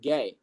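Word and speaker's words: Gueye: has the last name spelled gu, but it's pronounced gay and the other person has the last name of B O N A.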